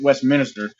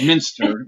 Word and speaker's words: Westminster: for the longest time that's how I was pronouncing it Westminster but it's Minster yeah so well I'm always you know like